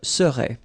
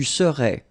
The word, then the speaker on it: serais: Remember, so AIS, but then you don't pronounce the final S. Je serais. Same rule here, no pronunciation of the final S. Tu serais.